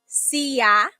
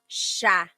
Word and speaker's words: siya: It looks like that's how it's pronounced because that's how it's spelled siya. But the S-I-Y combination, that makes a sh sound. So inaantok siya. So that's where that sound comes from.